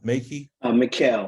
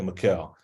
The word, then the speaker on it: Mikhail: Brother Makey? Mikhail. Well, I don't see the, okay, I see, oh, there's an L there. Okay, Mikhail. Yes, sir.